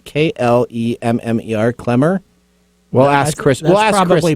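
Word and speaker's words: Klemmer: spell my last name my name is pronounced clemmer but that's fine just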